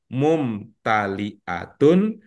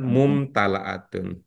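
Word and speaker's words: مُمْتَلِئَةٌ: seperti itu mudah-mudahan teringat cara membacanya adalah mumtaliatun bukan mumtalaatun Samaun tadi Pak bilang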